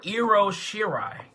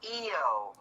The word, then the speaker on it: Io Shirai: Like, you called her Iro Shirai. It's EO. I know I said IO, but that was my mispronunciation.